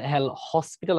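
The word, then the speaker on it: L'Hôpital: আমরা বলি হ্যাঁ এটার এল হসপিটাল আমরা আসলে উচ্চারণ করি এটা আসলে এল হসপিটাল না এটার এস টা আসলে উচ্চারণ হয় না এখানে একটা এস থাকে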